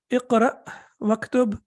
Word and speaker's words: اقرأ واكتب: So when we connect it, then we do not pronounce it. It becomes sakin or it becomes silent. So how do we read it? Iqra waktub. Ma means with.